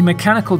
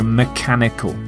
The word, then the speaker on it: mechanical: it's mechanical mechanical a mechanical device has moving parts and it uses power in order to do a particular task note the pronunciation of the CH is the k sound so mechanical mechanical not not mechanical